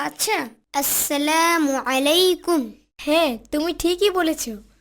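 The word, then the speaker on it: السلام عليكم: আসসালামু আলাইকুম আনাস। সালাম হবে আসসালামু আলাইকুম। ও আচ্ছা, আসসালামু আলাইকুম। হ্যাঁ, তুমি ঠিকই বলেছ। তবে সালামে আইনের উচ্চারণ সঠিক হওয়া চাই।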